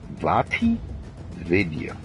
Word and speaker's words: VaatiVidya: It's spelled VAATIVIDYA. Vati Vidya.